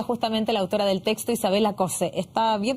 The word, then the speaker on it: Isabella Cosse: Vamos a profundizar en este tema y nos acompaña aquí en CNN Chile justamente la autora del texto, Isabela Cose. ¿Está bien pronunciado?